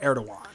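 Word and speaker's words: Erdoğan: I It's like- actually, in Turkish, saying it's pronounced Recep Tayyip Erdogan.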